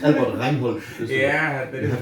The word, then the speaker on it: Albert Reinhold: It's Albert Reinhold.